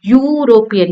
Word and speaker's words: European: Now, egg is making a vowel sound, but European is making Y-O-U, European. It is not making a E sound, therefore a European.